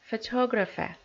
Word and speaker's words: photographer: the next word is photographer photographer so the letter O pronounced as a strong one photographer right and the